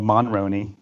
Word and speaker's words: Monroney: The only Monroney is it Monroney or Monroney? Can you pronounce it again, Ben? Monroney. So it's not like Jenna Maroney from 30 Rock.